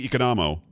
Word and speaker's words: Economou: It's Economou. Am I saying it right?